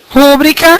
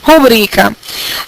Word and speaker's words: rubrica: que que não pode por causa de rúbrica que deveria ser rubrica através intuito álbums varíola